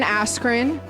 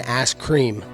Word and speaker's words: Askren: telling you guys ben askren you said it wrong it's it's been ass cream is that really it